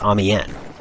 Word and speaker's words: Amiens: You could probably tell that I was struggling on how to pronounce Amiens, the French town. Now, it's spelled with an S on the end, but the S is silent, so I didn't know that.